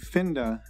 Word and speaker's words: Pinda: of the new app Pinda Pinda sorry Pinda as it's pronounced here on the show